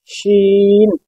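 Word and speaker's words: شين: জা, জা, scene, scene, শিন। দেখুন দুটোর উচ্চারণ কতটা আলাদা হচ্ছে, একটা হচ্ছে সিন আর একটা হচ্ছে শিন।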